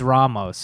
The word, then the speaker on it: Ramos: Yeah, it's Ramos. Yeah, we were robbing them of a long A for you stole his Dude, accent.